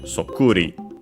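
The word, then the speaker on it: そっくり: It's an onomatopoeia, one of those in ri, and luckily, like most of those, accented on the syllable before the ri, so on the ku, in this case, sokuri, sokuri.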